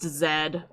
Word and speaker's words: Z: You'll just start talking about, like, Dragon Ball, and he'll be like, it's pronounced Zed.